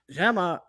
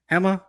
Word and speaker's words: Gemma: But we also had an announcement that Gemma wants, if I'm pronouncing her name right, I don't even know if I pronounce her name right. Hema. So the G is silent.